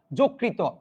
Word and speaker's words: যকৃত: থাকলে দন্তন্য হয়ে যাবে অন্তস্থ জ থাকলে বর্গীয় জ হয়ে যাবে যেমন আমি এখানে কি